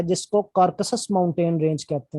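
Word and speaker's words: Caucasus: ठीक है, तो एशिया एंड यूरोप में जो है ना, कार्कसस नहीं है, सॉरी मैं गलत प्रोनाउंस कर रहा हूँ, कॉकसस कहते हैं, कॉकसस, आर नहीं पढ़ेंगे, कॉकसस।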